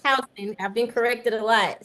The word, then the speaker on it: Houston: It looks like Houston, but it's pronounced Houston.